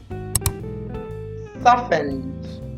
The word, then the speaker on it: softened: or ferle Renown Homestead softened the t is silent soften weary beneath